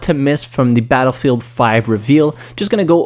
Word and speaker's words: Battlefield V: It is the Roman numeral for 5 and it is not Battlefield V.